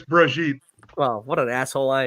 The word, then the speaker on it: Brigitte: Am I saying it wrong by just saying Bridget? Yes. Yeah, no, it's Brigitte.